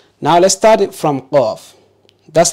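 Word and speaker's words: قاف: Qaf. Good. Don't say kaf. Don't pronounce the qaf like the Mandinkas. My tribe, they can't pronounce the qaf.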